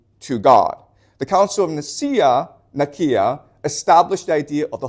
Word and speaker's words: Nicaea: Okay, it's properly pronounced Nicaea, but most people pronounce it Nicaea.